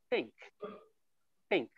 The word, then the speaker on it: think: so think that is make use of both uh upper and lower teeth and with the tongue uh between the uh teeth okay and then we'll